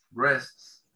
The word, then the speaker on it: breasts: Tenemos aquí esta palabra, breasts. Breasts, la A no se pronuncia, que hace referencia a los pechos, ¿sí?